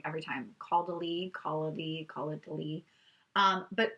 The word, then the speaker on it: Caudalie: Caudalie.